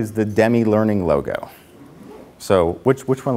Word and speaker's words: Demme: pronounce my last name usually if someone calls says is dem there or to me than I know it's telemarketer and I hang up even when I was introduced Dimitri goes how do you pronounce your last name because it it doesn't make like you can't look at and go oh it's Demi so Demi it helps you pronounce